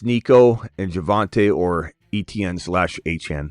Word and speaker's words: Etienne: It says, Etienne just trolling us. No way it's A-Chane. It doesn't seem to be a trolling attempt, my boy.